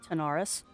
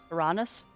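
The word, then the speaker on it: Taranis: Hopefully I'm saying it correctly now. Tanaris. Tyrannus? No, it was Tyrannus. It was Tyrannus. I need to make myself a little post-it note to put on my computer. It's Tyrannus. Tyrannus.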